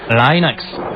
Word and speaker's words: Linux: la catégorie easy facile comment prononcer linux et bien je prononce linux comme linux cependant si vous êtes linus torvalds ou le pronom serez sans doute linux d'un autre côté si vous venez de la côte ouest des états unis retrouver le prononcer inax mais linus torvalds se